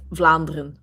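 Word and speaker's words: Vlaanderen: the balloon region and then we say uh flandren which is a Flemish region the Flemish right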